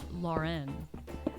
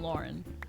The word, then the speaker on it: Lauren: lauren people say ralph lauren and like it's never pronounced it's like not pronounced that way it's like pronounced like the normal last name lauren but like people are like ralph lauren to make it like